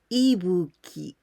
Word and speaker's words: Ibuki: going to explain you about these candies we pronounce ebuki in the first kanji did only this one